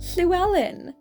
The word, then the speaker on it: Llewellyn: Celyn's surname is Llewellyn, which I know people might struggle at. It's actually really easy to say once you learn how to say the noise, which is actually a letter in Welsh.